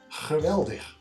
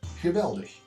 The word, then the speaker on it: geweldig: The G is pronounced with a harsh rasp above the Rhine. Below the Rhine it has a lot more air, and in some regions in Belgium even changes to an H. Geweldig sounds crude above the river and nice and soft below it.